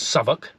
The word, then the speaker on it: Southwick: in a place called Southwick pronounced by the locals As saok and we're seeing the